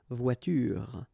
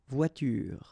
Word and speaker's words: voiture: The last thing that you will hear is this r, voiture, voiture.